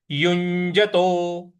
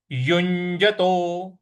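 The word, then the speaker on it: युञ्जतो: युज युज यु देखिए यहां पे जो ञ वाला जो च झ ञ का जो है है उसका उच्चारण आएगा युज और यहां यहां पे हमको उस पर आघात भी देना है। तो ये कैसे होगा? युजतो युजतो युजतो इस प्रकार से बोलेंगे।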